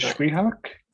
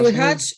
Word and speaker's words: słychać: Is it Szwihak? No, mispronouncing it? słychać, yeah, słychać.